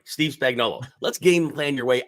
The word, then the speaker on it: Spagnuolo: Steve Spagnuolo.